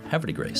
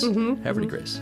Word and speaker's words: Havre de Grace: differently in French, but everyone down there says it really fast, like it's one word, like Havre de Grace. Havre de Grace.